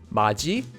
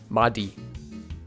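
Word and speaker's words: 맏이: And third, whenever you have a digut before the sound e, the e sound becomes pronounced as ji. For example, this word would be pronounced as 마지 and not 마디.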